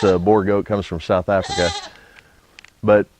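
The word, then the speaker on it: Boer: And for those of you that don't know, boar is a type of goat, and it's spelled B-O-E-R, not B-O-A-R. It's not like a pig. It's a boar goat, comes from South Africa.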